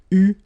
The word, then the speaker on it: eu: So you write it like that, EU, but then you pronounce it U.